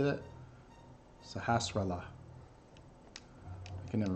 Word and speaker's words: Sahasrahla: See, Sahasrahla. How do you say that? Sahasrahla. I can never pronounce his name.